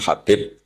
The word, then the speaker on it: Habib: Ada yang nulis Abi Abdurrahman Habib Asulami. Itu di harakatnya kitab itu ada yang nulis khubab. L yang benar. Oh nggih. Yang benar itu bacanya habib.